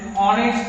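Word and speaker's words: honest: Hussain was एन ऑनेस्ट मैन। देखिए यहां एन क्यों लगा है, क्योंकि यहां पर क्या है, ऑनेस्ट। तो इसका प्रोनाउंसिएशन मात्रा वाले अक्षर से हो रहा है, मात्रा का मतलब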